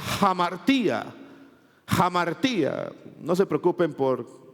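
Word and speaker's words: ἁμαρτία: Hay una palabra griega que se pronuncia hamartía.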